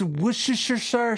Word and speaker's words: Worcester: joining me now Jim it's pronounced wer sir Sasser and if you